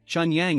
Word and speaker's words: Chun Yang: T/N, Chun Yang is pronounced the same way as Pure Sun in Chinese.